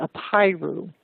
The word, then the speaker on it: Apiru: was the Apiru, and I'll spell that. It's A-P like Paul, I-R-U, the Apiru.